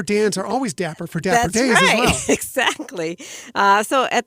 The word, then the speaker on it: Dapper Day: keep saying it wrong, is the Dapper Day, not Dapper Dan, but Dapper Day Expo is coming to the Disneyland Resort next month.